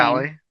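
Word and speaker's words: Kali: I don't know how you pronounce her name. Cali.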